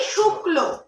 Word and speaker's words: শুক্ল: ক আর ল যখন যুক্ত হবে বর্ণটা তখন কিন্তু ক, ল এরকম করে উচ্চারণ করবো না।